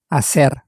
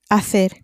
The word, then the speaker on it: hacer: Hacer. Hacer. Spelt H-A-C-E-R. Again, the H at the beginning is silent, as it always is in Spanish.